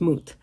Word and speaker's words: Mut: That's basically what he's So anyway, I think the name is pronounced moot. Uh because I haven't heard mut anywhere but moot.